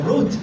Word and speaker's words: Ruth: One's name was Orpah, was married to one of the sons, and the other's name was Ruth, or Ruth in Hebrew is how you say it. There's no H there, okay?